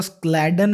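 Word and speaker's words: Schleiden: कुछ लोग इसको स्क्लैडन भी प्रोनाउंस करेंगे इस नाम को। इट डजेंट मैटर, आप कुछ भी प्रोनाउंस करें, आपको पता होना चाहिए कि कौन सा नाम था ये।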